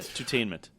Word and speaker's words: Tutainment: I was curious if you were mispronouncing that, but it's like the number 2 and then tainment. Yeah, Tainment. Yep. Okay. All right. Yeah, Tutainment.